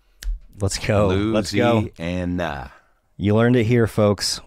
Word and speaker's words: Louisiana: Louisiana has four syllables. My granny worked for the state, and that is official. Louisiana is some northerner bullshit. Let's go. Louisiana.